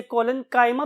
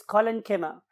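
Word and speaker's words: collenchyma: बहुत से और प्रोनाउंसिएशंस भी अवेलेबल है, खासतौर पे हमारे इस कॉन्टिनेंट के पार्ट में। तो बहुत से लोग इसे कोलेनकाइमा भी बोलते हैं, बट the true pronunciation is कोलेनकीमा एंड पेरेनकीमा।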